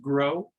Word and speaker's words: gros: mean that it actually it's pronounced grow and it's it's french for large so really when that